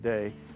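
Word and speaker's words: Dei: dice our bestselling items uh is under our day for telly brand it's it's looks like d fory but it's pronounced day and what it means is the brand means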